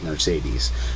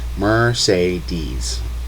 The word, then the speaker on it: Mercedes: sound, kind of like Mercedes. Mercedes. All three E's in Mercedes have a different sound. It's crazy. Mercedes. Mercedes. Mercedes. Mercedes.